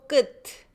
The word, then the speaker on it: 끝: But before other consonants, we do not pronounce the last consonant. Okay, so 웃다, 웃다, and then the end. 끝, 끝. So we don't go 끝, 끝. You put your tongue where to sound is pronounced, but stop there and not release it.